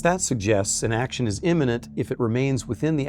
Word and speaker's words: immanent: don't make it clear, let me stress the term here is immanent with an A in the middle, not imminent with an I and not eminent with an E.